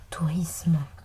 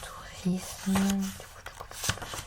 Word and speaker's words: tourisme: La seule prononciation correcte est isme. Décomposons un peu plus isme et non isme. Le S se prononce S entre voyelle et une consonne. Ce n'est donc qu'entre deux voyelles qu'il devient Z, qu'il fait le son Z.